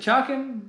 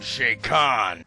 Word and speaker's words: Chakan: Is it Chakan? Is it Chakan? Is it Chakan? Is it... I am Shakan. I have been mispronouncing this wrong for so many years.